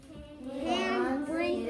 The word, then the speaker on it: Hans Brinker: Hans Brinker. It is Hans. That's how you pronounce that. That is Hans Brinker.